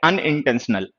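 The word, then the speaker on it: unintentional: ये है अनइंटेंशनल आ, जैसे अम्ब्रेला में होता है एन आ गया, ये एन है, ठीक है।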